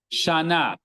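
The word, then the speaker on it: שנה: In fact, the ayin, hey, and aleph at the end of a word, you don't hear their pronunciation if there's no vowel on them. They're silent, right? So let's see, on the first line, we have shana, the third word, shana. There's no hey sound.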